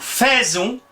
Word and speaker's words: faisons: ménage nous av l'explication nous faisons c'est prononcer nous faisons exactement comme l'infinitif faire c'est dans le courant